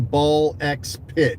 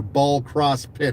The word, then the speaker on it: Ball X Pit: The rest of my weekend was taken up by that new indie game, Ball X Pit or Ball Cross Pit or however they pronounce it.